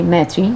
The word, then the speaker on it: Maitri: Well, it's pronounced actually Maitri because it comes from Sanskrit.